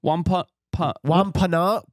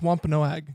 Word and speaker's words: Wampanoag: Wampanoag Wampanoag language?